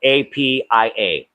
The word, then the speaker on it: Apia: I think there was an office for the facility in Apia, which is the capital of Western Samoa, spelled APIA. Apia is the way it's pronounced.